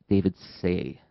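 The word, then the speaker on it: Seah: Oh, I think his name is spelled S-E-A-H, David Say.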